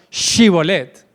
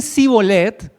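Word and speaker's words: Shibboleth: Si ellos dicen que no son de Efraín, entonces tendrán que pronunciar la palabra Shibolet. Pero si dicen sí bolet van a morir.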